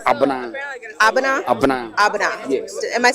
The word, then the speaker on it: Abena: Was Abana. Okay. Yes. Okay. Then I'm also Tuesday. Okay, you're Tuesday born as well. Yeah, I'm Kobna. And you are Abana. Yes. Good. So anytime Tuesdays are called Abana.